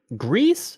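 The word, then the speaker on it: Gris: it have we decided GRE no it's it's gree I just looked up today on their official site they say Greece yep they say pronounced gree pronounced like the Star Wars Jedi Outlaw character whatever Jedi Survivor ah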